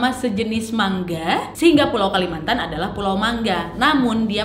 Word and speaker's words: Kalimantan: Nah, karena memang vokal A pada kata Mantana itu menurut kebiasaan tidak bisa diucapkan atau sulit diucapkan, maka kata Kalamantana ini diucapkan dengan Kalmantan, yang disebut oleh penduduk asli dengan Kalimantan atau Kualamontan, yang akhirnya diturunkan menjadi Kalimantan.